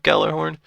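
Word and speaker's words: Gjallarhorn: Do they still make the Nerf Gallarhorn? Gallarhorn? Gajai. Okay, so is that pronounced ya or la? La.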